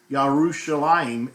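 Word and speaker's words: ירושלים: pronounced in ancient times, and not the modern pronunciation, which Yerushalayim is the way, or Yerushalayim or Yerushalayim is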